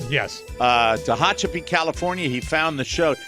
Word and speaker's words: Tehachapi: Thanks for the pronouncer. Yes. Tehachapi, California.